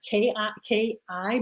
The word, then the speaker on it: KI: is really funny because in German it's K-I, but I is pronounced E, so it's K-I.